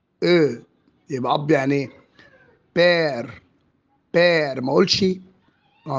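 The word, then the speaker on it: père: بير. بير. ما اقولش، ما انطقوش اي. بير. وبننطق حرف الار ينفع انطقه حرف غين، يعني ممكن اقول ايه؟ بيغ.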